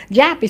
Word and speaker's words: Joppa: back then but I know it was it was pronounced Japy so that's why and